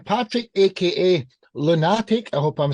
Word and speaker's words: Lewnatic: last song of the evening H Patrick AKA lunatic I hope I'm saying it right introduce yourself dude and what's your story your song Stronger than before so it's actually pronounced lunatic it's a play on words of my my